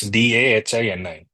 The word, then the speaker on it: dahini: a concept called D again I'm not sure if I'm you know pronouncing it correctly it's d a h i n i and I'm assuming it's pronounced as dahini and it's about a